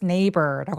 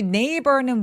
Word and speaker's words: neighbor: 여러분 우리 neighbor는 뭐예요? 이웃이란 뜻이잖아요. nehig 여기에서의 gh는 묵음이 되고요. 그냥 바로 neighbor 렇게 표현해 주시면 됩니다. 근데 neb 할 때 b는 입술이 꾹 다 무너지는 소리예요. neighbor neighbor 이렇게요.